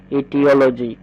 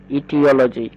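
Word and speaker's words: aetiology: সৌন্দর্য সংক্রান্ত ঠিক তেমনি করে নিচেরটা দেখো এটার উচ্চারণ করতে হবে ইটিওলজি ইটিওলজি অর্থাৎ কারণতত্ত্ব বুঝতে বুঝতে পেরে নিশ্চয় পরেরটা দেখো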